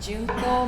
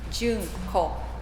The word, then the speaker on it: Juneko: Hi, my name is Juneko. Juneko is my name. common Japanese name, but it's hard to pronounce here for some reason. So it's like April, May, June. Juneko is my name.